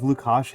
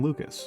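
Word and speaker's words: Łukasz: I honestly am curious if Lukash had an opinion on Lucas. Is that how you pronounce that name? Yeah, it's Lukash.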